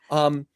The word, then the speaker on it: Bazelon: This will be number 3 because you just did a fascinating interview with strategist Simon Bazelon. Am I pronouncing Simon's Yeah, last name Baseline. correctly? Yeah. Yeah. Bazelon.